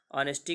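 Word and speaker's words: honesty: तो खैर द ऑनेस्टी तो खैर लिखते हैं, ऑनेस्टी का उच्चारण हम आ से करते हैं, ठीक है।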